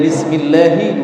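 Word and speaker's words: بسم الله: aliran nafas yang mengalir Kalau antum bacanya itu Antum membaca dengan cara yang kurang benar ya yang benar Bismillahi rrohma nirohim Kemudian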